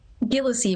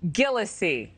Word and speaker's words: Gillissie: Gillissie with a hard G. Gillissie.